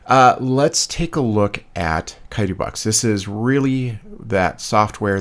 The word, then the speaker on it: Chitubox: This is Chitubox. I think it's pronounced that way. I don't think there's like a sh sound or a sound to it.